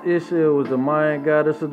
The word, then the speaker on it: Ixchel: Ixchel, pronounced Ixchel, is the Mayan goddess of the moon, love, gestation, the medicine, and the textual arts.